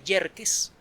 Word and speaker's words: Yerkes: luego el telescopio de yerkes que se escribe como suena con acá y con y al principio luego el gran telescopio